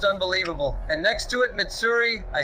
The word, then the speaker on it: Mitsuri: And next to it, Mitsuri.